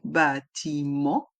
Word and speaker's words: bâtiment: C'est à côté du bâtiment. Dans le mot bâtiment, il y a le son en avec les lettres E et N. Bâtiment. Et le T est muet.